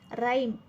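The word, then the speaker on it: rhyme: खाली अंडरलाईन केली आहे राईम राईम मध्ये एच चा उच्चार होत नाहीये म्हणून आपण एच खाली अंडरलाईन केली आहे नंतर आवर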